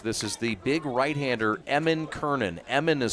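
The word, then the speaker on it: Eamonn: This is the big right-hander, Eamon Kernan. Eamon is spelled E-A-M-O-N-N.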